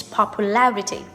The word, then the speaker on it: popularity: So the stress on the first one, but when you change to a noun, the word stress changes to the 3rd syllable, which is popularity.